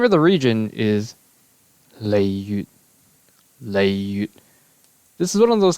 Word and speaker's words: Liyue: Liyue. This is one of those cases where the Japanese directly approximated the modern standard Mandarin pronunciation, the Japanese being Liyue, and then the Mandarin is Liyue.